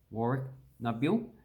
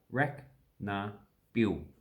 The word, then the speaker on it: Warracknabeal: And that's pretty much pronounced how it actually looks. So Warracknabeal. Indigenous words, in Australian English, at this point in time, we don't cut them down. We just pronounce them all the way.